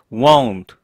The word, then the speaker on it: won't: 동사 원형, 동사 원형을 받는 것은 won't. 얘밖에 없죠. won't. I won't forget you. 트 발음 어차피 살리지 않기 때문에 I won't 이런 느낌이죠.